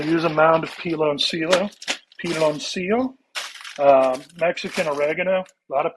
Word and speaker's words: Piloncillo: This is Piloncillo is how it's pronounced.